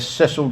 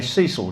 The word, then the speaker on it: Cecil: escort ship called the USS Ceil J Doyle or as the Americans say Cecil J Doyle arrived on the